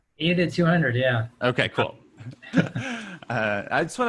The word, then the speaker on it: 80-200: 80 to, how do you pronounce it? 80 to 200? 80 to 200, yeah.